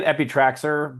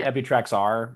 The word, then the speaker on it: Epitraxer: Yeah, I say Epitraxer, but probably Epitrax R. You could do either.